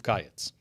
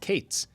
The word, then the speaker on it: Qayitz: Now in the north, as opposed to the south, both summer fruit and end were both pronounced Qayitz.